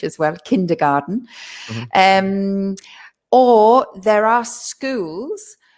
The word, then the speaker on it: kindergarten: and we call it kindergarten we don't actually pronounce it garten we say garden so we make it sound english as well kindergarten um or there are